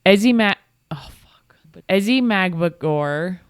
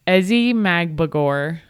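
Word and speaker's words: Ezi Magbegor: Ezzy Magmagor. Say it again. How do you say it? Just try again. Ezzy Magbagor had 3 key blocks towards the end of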